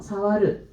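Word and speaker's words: 触る: 사와르. 자, 한자 표기를 하게 되면은 이제 다을 촉자가 들어가게 돼요. 뿔 갑자에다가 벌레 충자를 넣어서 이 다을 촉. 얘를 사용을 해서 사와르라고 읽게 되는데 그러면 만지면 안 되기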